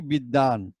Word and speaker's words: বিদ্বান: আবার এখানে লিখছি বিদ্বান, ব রস্যইকার দ ব আকার দন্ত ন, লিখছি বিদ্বান কিন্তু বলছি কি বিদ্যান।